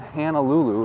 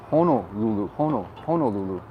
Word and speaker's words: Honolulu: mean seriously you know it's not hannah lulu it's honolulu just little things like